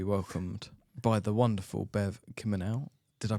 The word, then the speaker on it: Kimminau: delighted to be welcomed by the wonderful Bev Kimel did I pronounce the surname right you did I'm really